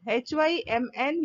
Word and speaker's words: hymn: H-Y-M-N. You pronounce it as hymn.